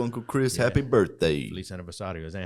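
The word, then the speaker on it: Feliz aniversário: Feliz aniversario. Is that how you say it? Feliz aniversario.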